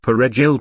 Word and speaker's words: Perejil: skin, using the shibboleth Perejil parsley to distinguish Haitians from Afro-Dominicans when necessary. The R of Perejil was of difficult pronunciation for Haitians.